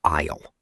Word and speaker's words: aisle: An aisle is the long space you walk down between the shelves of food. Yes, the spelling is weird. A-I-S-L-E, but we say aisle. The S is silent.